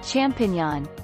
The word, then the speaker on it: champignon: The singular, champignon, and the plural are pronounced identically in French. English speakers tend to get this word half right, and it comes out champ-o-tilde. Sounds a bit like champion in French instead of mushrooms.